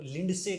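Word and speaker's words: Lindsay: उनको कई बार है ना, एक बात मैं बताना चाहिए, लिंडसे कहते हैं, डी साइलेंट है ब्रो, लिंडसे है वो।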